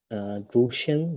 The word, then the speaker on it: draußen: তারপরে Die Party findet draußen statt. হুম, এটার উচ্চারণ কি?